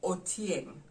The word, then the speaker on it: otieng: story but the word for a spider is otieng or tieng how do we spell it o t i e n g o